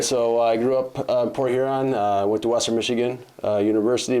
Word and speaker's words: Port Huron: So I'm from Port Huron, so I gotta be careful how you pronounce that, I should say, because those of us in Port Huron often will say Port Urine.